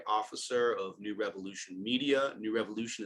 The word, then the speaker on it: KnewRevolution: New Revolution is spelled K-N-E-W, small r, capital E, emphasizing the word evolution and revolution.